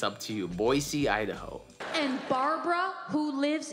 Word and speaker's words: Boise: screen right now foreign so it's Boise I've heard some people say with an S Voice C I heard I've heard some people say with a z boy Z so I guess it's